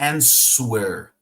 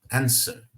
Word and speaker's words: answer: solicitação answer lembrando pessoal aqui não é answer apesar de ter um w aqui tá é tipo a palavra Sword Sword tá então esse w não será realmente pronunciado como será na verdade nessas duas palavrinhas w será quase que ignorado answer Sword tá vamos